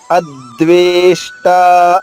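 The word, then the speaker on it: అద్వేష్టా: అద్వేష్ట, చూడండి, ఆ హ్రస్వాక్షరము, ద్వేష్ట రెండు కూడా దీర్ఘాక్షరాలు కాబట్టి అద్వేష్ట.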